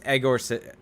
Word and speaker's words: Yegor: I dropped the Y because our good friend Derek said the Y is not meant to be pronounced in his name. Yegor bomb? So it's Egor.